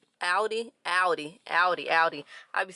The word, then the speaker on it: Audi: ahead and head back inside into audi ah aldi audi audi audi audi i'd be saying it wrong